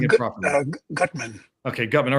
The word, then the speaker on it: Gutman: And, is it Gutman or Gutman, if I'm pronouncing it properly? Gutman.